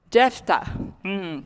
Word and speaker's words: Jephthah: you remember astoria i don't know if i'm pronouncing his name right but huh jephthah thank you jephthah remember he said that the